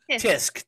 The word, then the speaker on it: tisk: Tisking. Spell it. Tisk.